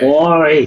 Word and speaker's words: Marie: Like Mario. Murray. Cut the O off Mario. You got the name.